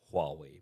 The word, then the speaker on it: Huawei: take a look at Huawei and so spelled Huawei but it's pronounced Huawei right so they were the parent